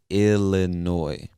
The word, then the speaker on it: Illinois: word you'll see that the word ends with an s but we do not pronounce that s it is silent say illinois and illinois is also